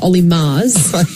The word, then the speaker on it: Murs: I know Richard Wilkins said you were Olly Murs, like Bruno Mars.